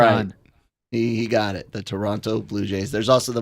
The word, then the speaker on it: Toronto: texted for him yeah you got to say Toronto you can't pronounce the second T you always remember that